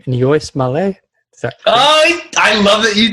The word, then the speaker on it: Níos Moille: But it's an Irish phrase pronounced Níos Moille. Okay. And you slow it down to get it phonetically, but you want to say it as fast as possible.